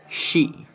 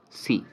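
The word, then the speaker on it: し: Okay, you had written she. You know, she, si, she, si. There is a little bit of difference in pronunciation. She is the right pronunciation. C is completely different.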